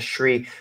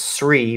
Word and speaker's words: Sri: and then they added the the Shri which I'm sure everyone used to pronounce SRI but it's Tri Lanka yeah right Lanka right